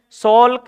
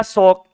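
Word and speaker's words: Salk: अब देखो इसको किताबों में ऐसे भी लिख देते हैं सॉक। ये क्या है कि ऐसे है एल के, इस प्रकार से इसको साइलेंट रख लेते हैं, सोल्क या सॉक, इस प्रकार से।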